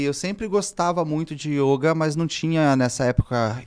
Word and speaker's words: yoga: fechado ele aí o como a grafia não tem um acento quando veio para o ocidente se viu um o aberto esse começou a pronunciar muito ele aberto e yoga Mas tradicionalmente aí o e há muito tempo atrás até começaram a mudar e colocar com i no início no Brasil usar o